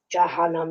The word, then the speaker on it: Jahannam: Now, hell is called Jahannam. And I say it like Jahannam like that, a bit scary, because it helps me remember what it means.